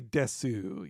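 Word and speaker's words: です: She says desu instead of des, but it all works out.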